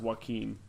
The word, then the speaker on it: Joaquin: His name is pronounced Joaquin.